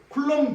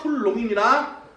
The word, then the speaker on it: 쿨롱: 쿨롬 아니에요. 쿨롱입니다. 어 비 발음 안 해요.